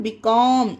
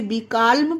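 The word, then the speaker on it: becalm: यही हमारा रूल है एम से पहले एल हो बी कम इसे आप पढ़ के देखिए तो यहां पर एल का ला में साउंड नहीं आ रहा है ध्वनि नहीं हो रही है ब काम पढ़ा जा रहा है इसे इसे बि कालम पढ़ा जाएगा तो यह गलत हो जाएगा तो आप इसे विकाल में नहीं पढ़ना इसे विका पढ़ना उसी तरह से बाम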